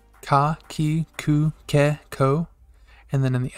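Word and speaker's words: こ: We have ko.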